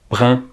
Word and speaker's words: brun: de muguet par exemple brun s'est créé avec un eu et doit donc se prononcer comme tel brun et brun s'écrit avec